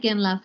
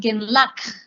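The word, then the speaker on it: རྒན་ལགས: For example, when we say genla, the spelling is la, ka, and then a sa, which we will learn today. And the pronunciation is not genlak. It's actually really soft. It softens here in your throat.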